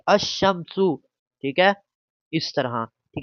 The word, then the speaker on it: الشمس: ساتھ ملا دیں گے، تو اس کو اب الشمسی نہیں پڑھیں گے، الشمسو، ٹھیک ہے، اس طرح پڑھیں گے الشمسو، ٹھیک ہے، اس طرح،